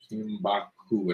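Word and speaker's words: Kinbaku: Somebody was asking how you spell Kimbaku. K-I-N-B-A-K-U, I believe. Let me look it up. I think it's K-I-N-B-A-K-U. I already looked it up. Yeah. Oh, okay. Yeah. Kimbaku.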